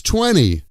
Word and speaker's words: twenty: And finally, as we started with twenty becomes tweny. We need tweny more chairs for the meeting.